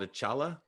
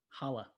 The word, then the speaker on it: challah: what is it called achala holla holla oh you don't pronounce the c chocolate chip challah i'm